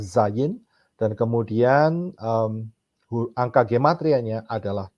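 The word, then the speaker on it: Zayin: sains ya hurufnya dan cara pengucapannya adalah Zayn dan kemudian angka kematiannya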